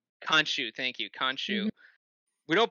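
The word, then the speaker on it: Khonshu: just don't believe the uh i'm never gonna pronounce his name right the moon knights fanchu kanshu thank you kanshu we don't believe kanshu because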